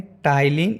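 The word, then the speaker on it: ptyalin: तो पहला है लाइसोजाइम और तीसरा है टाइलिन एमाइलेज एंजाइम। जब हम लोग प्रोनाउंस करेंगे तो TY से होगा, लेकिन जब लिखेंगे तो PTYLINE। P जो होता है वो साइलेंट होता है, इसलिए टाइलिन एमाइलेज एंजाइम या इसे सलाइवरी एमाइलेज बोलते हैं।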